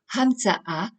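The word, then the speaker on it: הַמְצָאָה: Exemple avec le mot « Hamtsa-ah », le mot est composé de trois syllabes : « ham », « tsa » et « ah ».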